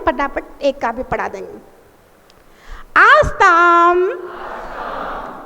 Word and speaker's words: आस्तां: आस्ताम आस्ताम आस्ताम। देखिए माँ के उच्चारण का ध्यान रखो। बहुत सारे लोगों को पता नहीं रहता है कि बिंदी में माँ का उच्चारण करना पड़ता है, तो फिर वो अपनी